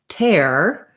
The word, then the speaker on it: tear: and then we have the word tear like tearing the paper and that one would be um that would that one is the air diphthong um which i could